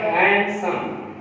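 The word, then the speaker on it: handsome: इसके अलावा एक और वर्ड हैंडसम, आपको इसको बोलते हैं हैंडसम, हैंडसम। अब डी जो है यहां पर साइलेंट है, इसको बोलेंगे हैंडसम, हैंडसम।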